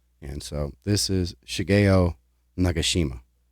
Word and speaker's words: Nagashima: so this is shigayo nagashima I've also heard it pronounced nagashima but I think it's nagashima but either way absolute